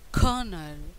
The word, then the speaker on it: colonel: The stress on the first syllable at the same time R is silent in British accent, but in American accent R is not silent, so it became colonel, meaning an officer of